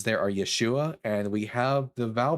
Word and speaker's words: Yeshua: They pronounce Yeshua's name as Yahusha or Yahawah Yah Yahawashi.